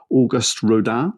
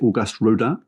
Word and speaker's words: Auguste Rodin: However, Auguste Rodin, I think that's how you pronounce it, Auguste Rodin, who disappointed in the Guineas, is still Ballydoyle's number 1 and his second favourite.